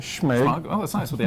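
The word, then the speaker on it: Smaug: Schmog, that's how you say it. Schmeg.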